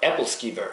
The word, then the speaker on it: Æbleskiver: of wine which is app or apple skver some apple slices no apple skver I think that's how they pronounce It in America and around the world but it's a real